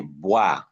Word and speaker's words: boire: B and what? V. B, V. Boire. That's occlusive. Voir. That's what? Fricative.